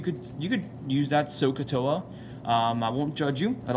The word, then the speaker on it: SOHCAHTOA: you say this we say this one is pronounced sohcahtoa but in my opinion when I say that